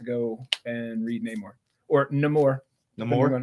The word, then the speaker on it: Namor: So I'm gonna have to go and read Namor or Namor. No depending more, on how you wanna. no more. That's how they pronounced it in Wakanda Forever.